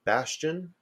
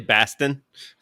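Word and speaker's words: Bastian: Delta CEO uh Ed Bastion uh nice to get a name I can pronounce it's actually Bastin oh thank you is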